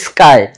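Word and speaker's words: sky: স্কাই নয়, এটা হচ্ছে স্কাই। মানে এস যে লেটারটি আছে সেটার পরে বসেছে, যার কারণে এটার সাউন্ডটা করতে হবে আমাদেরকে কয়ের মতো।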